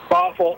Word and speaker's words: Bothell: Bothell. Yeah, it's spelled like bot hell, you know?